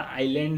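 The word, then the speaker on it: island: ये भी बहुत बड़ा नहीं, एक छोटा सा आइलैंड है। आइलैंड मतलब आपको पता होगा, ये आइलैंड लिखा हुआ है, ये ध्यान में रखिएगा। यदि इसको आइसलैंड नहीं पढ़ेंगे, आइसलैंड का स्पेलिंग ये होता है।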